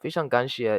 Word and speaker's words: 非常感谢: So, 非常感谢 is how you say it.